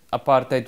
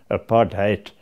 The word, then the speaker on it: apartheid: The policy of separate development, which the media mischievously branded apartheid with the accent on the HAT, hate, That was a policy